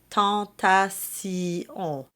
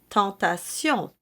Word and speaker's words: tentation: The standard is three syllables, not four, which is no doubt why Duruflé provided the two options.